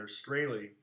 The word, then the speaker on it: Strahle: just go to google and australia that's how it pronounced my name by the way and